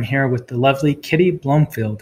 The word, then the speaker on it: Blomfeild: with the lovely kitty Bloomfield how are you doing Kitty yeah I'm good thanks how are you did I say that right yeah yeah it's pronounced Bloomfield but it's spelt with one oh so it's confusing so